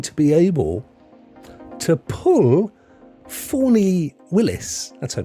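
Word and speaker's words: Fani: they're actually going to be able to pull Fawny Willis? That's her name, isn't it? Fawny. You're not pronounce it Fanny, do you?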